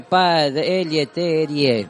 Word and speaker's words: Pelletier: No, se escribe Pelletier, ¿viste? Pero sí, pero me dijeron que se dice Pelletier. Pelletier, perfecto.